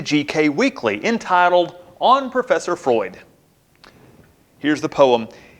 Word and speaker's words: Freud: weekly entitled on Professor Freud here's the poem the ignorant pronounce it fruit to coveal or applaud the well-informed pronounce it Freud but I pronounce it fraud when defending the idea